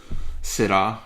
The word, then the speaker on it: Syrah: I actually very much enjoy the British pronunciation of Syrah. Syrah.